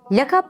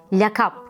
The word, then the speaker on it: lakap: değil lise lisan Nisa lakap kelimesi de yanlış söylenebilir lakabı gibi orada da iki sese kısadır la hecesi de incedir lakap aile lakabımız örneğindeki gibi sesleri uzun söylememek gerekir böğrek ve çörek deme